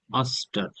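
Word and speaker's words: ouster: না এটা হচ্ছে উচ্চারণ উচ্চারণ হবে অস্টার ও ইউ এস টি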